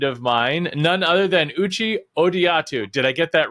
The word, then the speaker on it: Uche Odiatu: I'm excited to welcome onto the program a new friend of mine, none other than Uchi Odiatu. Did I get that right? I know you told me the pronunciation.